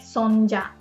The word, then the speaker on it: それじゃ: それじゃ is pronounced like そんじゃ.